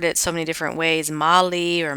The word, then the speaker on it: Magli: so many different ways moli or Magi but it's uh the G and the L are silent so mayi so you can sound